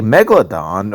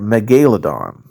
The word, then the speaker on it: megalodon: For example, you can say megalodon or megalodon, or Dimetrodon can be pronounced Dimetrodon.